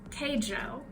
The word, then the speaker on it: Keijo: I'm probably gonna say it wrong, but I think it's pronounced Kaijo? Keijo. Keijo, the butt fighting one, yeah?